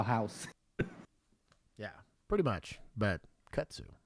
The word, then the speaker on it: kudzu: And it has what's called kudzu, which I learned the other day.